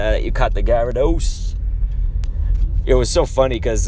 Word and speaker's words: Gyarados: the correct pronunciation but Gyarados is also it's like gyro dose Gyarados you know like you're saying it almost like guerre gaya reduce and I remember PewDiePie